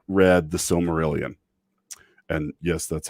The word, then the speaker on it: Silmarillion: mean seriously if you have not read the silmarillion and yes that's how you pronounce it because i've been pronouncing it wrong